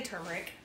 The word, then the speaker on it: turmeric: on my nerves like there's obviously an r here so many people say